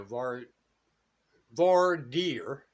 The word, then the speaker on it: voir dire: So, just saying, the voir dire, like DER, right? That runs up and down the street, is how it's pronounced.